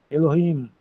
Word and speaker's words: Elohim: Elohim é o H fraquinho, não é muito forte não. Elohim já sabemos que isso significa deus.